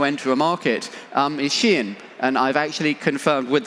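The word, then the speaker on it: Shein: new channel to enter a market um is shin and I've actually confirmed with the company that's how you pronounce it um so we spent 15 years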